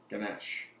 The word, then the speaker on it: Ganesh: god these can go in the church so Ganesh was from there he's been with me for